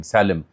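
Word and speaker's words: Salem: फिर इसने एक अमकी टीवी चैनल लोग समझते हैं पता नहीं कहां क्या उसकी क्योंकि स्पेलिंग है एस ए एल इ एम सालिम तो सालिम कह लें कि ये पता नहीं कोई मुसलमान चैनल ना हो।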